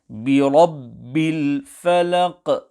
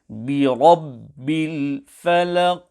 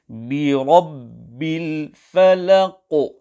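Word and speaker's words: بِرَبِّ الْفَلَقِ: So, qalqalah has been applied here, but the qaf has not been pronounced full mouth. The correct pronunciation is Birabbil falaq, where clearly the qaf has been pronounced both with qalqalah and also full mouth.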